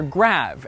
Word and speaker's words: grave: Or rather, grave, as it would have been pronounced in the original French.